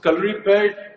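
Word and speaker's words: Kalaripayattu: it but you but you tell me so color repaired i'm so proud of the fact that you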